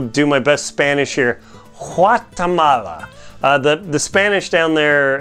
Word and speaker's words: Guatemala: my best Spanish here wat Tamala the the Spanish down there in the language they don't really say a hard G like we do in English Guatemala instead they say qua Tamala and that's about as